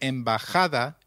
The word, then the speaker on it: embajada: Did you notice that embajada is pronounced as embajada? We learned earlier that the letter J takes up the sound of a stressed H in Spanish.